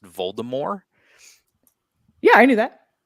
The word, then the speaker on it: Voldemort: know it's actually pronounced Voldemort yeah I knew that there's no T at the end of it there's no T pronunciation